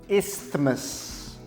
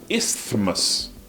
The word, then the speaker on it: isthmus: Eu sempre pensei que era como parece. Isthmus. Mas não é. Aprendi hoje que o TH não se pronuncia. É isthmus. Correto dizer isthmus.